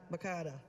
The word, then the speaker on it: Makada: Makada, sorry. Rhymes with Hakuna Matata.